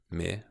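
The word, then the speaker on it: med: For instance, bor, rotil, me, which is a common word for with meaning with, have silent E, me, because it silent E because the E is long.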